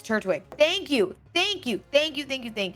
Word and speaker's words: Turtwig: So, he'd say turtwig. But like I just try not to over pronounce the T. I just feel like it It's It's turtwig.